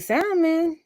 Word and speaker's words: salmon: I'm a good teriyaki salmon. I think I only made teriyaki salmon once, and that's when It's I was staying at the salmon. zoo. The L is silent. Salmon.